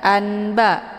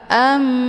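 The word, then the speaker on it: أنباء: bunyi mim a ya bukan anba tapi Amba ya hukum bacaan iqlab dibacanya sambil didengungkanum ba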